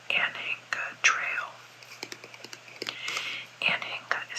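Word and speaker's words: Anhinga: the homestead area there is a trail called anena Trail anena is spelled a an h i n g a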